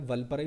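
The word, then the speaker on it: வால்பாறை: हालांकि अगर Tamil, pure Tamil pronunciation करोगे तो वल्बरई होता है, बट एक्चुअली लिखा जाता है वल्परई प्लेट्यू।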